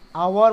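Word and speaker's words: hour: 12 number, he drop the car eight 60 kilometres dash आवर, आवर मतलब H silent है यहाँ पे इसलिए यहाँ पे एन आवर।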